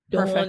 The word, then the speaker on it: Dawn: Like I I think it's such a Philly thing and it it actually rhymes with my name Dawn and John.